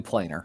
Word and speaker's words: planar: No, it is definitely planar. For that planar word binding.